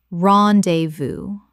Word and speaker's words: rendezvous: Correct pronunciation. Ron-de-voo. Three syllables with the S completely silent.